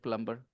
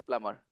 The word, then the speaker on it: plumber: For the maybe 20, 30 years of my life, I kept saying plumber, plumber, plumber. So maybe I said plumber. Not a big deal. The right pronunciation is plumber. Be silent.